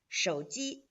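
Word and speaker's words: 手机: using their phone so mobile phone is pronounced like Shoji Shoji mobile phone Shoji show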